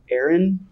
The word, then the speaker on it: Aaron: me the first time because it's pronounced Aaron you take yourself down with mr.